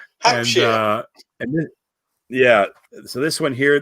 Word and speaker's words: Hampshire: I was talking about where people were from, And I said something Shire, and like, we don't call it Shire. It's not pronounced Shire. No, sheer. But sheer, yeah. Hampshire.